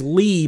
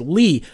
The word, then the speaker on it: Lea: axles real name is Lee but it's Lee at Le a so it should be Leah Leah or Leia right but it's pronounced Lee what the [ __